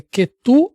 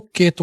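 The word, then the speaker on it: Ketu: Pai, eu só queria se eu respondesse, a pronúncia certa é Quetu ou Queto, como todo mundo fala, Quetu, né?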